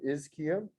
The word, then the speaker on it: ischium: and then a ch makes a cos sound is kim but you will hear it pronounced ischium as well and this is your